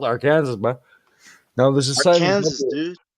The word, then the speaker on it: Arkansas: it's actually said uh arkansas uh how does that work well that is silent yes are kansas you mean arkansas or arkansas yeah some weirdos don't like to pronounce the s there's no [ __